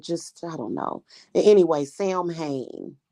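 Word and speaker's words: Samhain: I don't know anyway Sam Hayne is what it is or swin swin is actually how you pronounce it so it's just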